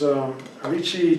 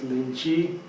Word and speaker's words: lychee: So first we have lychee, which is Lychee chinensis. In Thailand we call it Lychee. Some people erroneously call it Lychee, which is not the correct pronunciation.